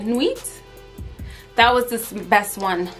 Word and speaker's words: Nuit: the n-u-i-t before that and then knew it i think that's how you say it nuits that was the best